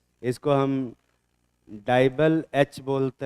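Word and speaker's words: DIBAL-H: इसको हम डाइबल एच बोलते हैं।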